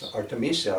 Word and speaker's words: Artemisia: Someone brings in a large pile of twigs, branches, of the Artemisia is the right way to say it, or wormwood, and everybody partakes, of these, I call them withes, like that.